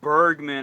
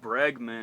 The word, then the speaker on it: Bregman: I I would be I keep mispronouncing I'd call him Bergman Alex Bergman I don't know why I kept saying Bergman Bergman Bergman then I looked at it closely and it said bregman and I'm like okay